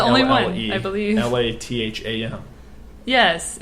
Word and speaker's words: Latham: LATHAM. Yes, it's spelled that way, like lat, then ham.